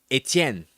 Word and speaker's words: Etienne: I'm I'm I don't want to go full full Cajun, but if I'm going to pronounce it in in proper French, it's Travis Etienne. That would be the correct pronunciation.